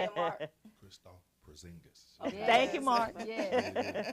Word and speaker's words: Porzingis: Christoph Porzingis.